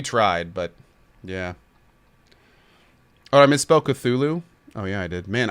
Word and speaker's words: Cthulhu: risk losing his license I believe it's pronounced Cthulhu yeah I'm pretty sure it sounds right Cthulhu yeah oh here we